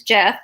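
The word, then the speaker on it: Geoff: His name is Jeff, spelled with a G.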